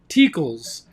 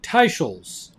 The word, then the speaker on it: Teicholz: And I did one the other day where I mentioned the name Nina Teakles, but it turns out her name is pronounced Nina Teicholz. So I apologize, Nina, if I got your name wrong.